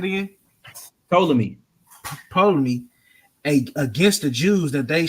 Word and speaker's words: Ptolemy: Ptolemy. You said it again? Ptolemy.